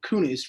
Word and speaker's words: Kunis: Is that the pronunciation? Kunis, yeah.